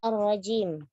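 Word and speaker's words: الرجيم: Lalu kata ar-rajim. Sempurnakan sifat syiddah pada huruf jim.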